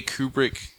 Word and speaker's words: Kubrick: If you look at it, like it was the same way Kubrick. Like did you ever see the? I said his name wrong, didn't I?